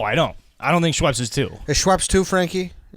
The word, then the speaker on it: Schweppes: category is it is you pronounce schweppes right schweppes schweppies it's just schweppes um i gotta go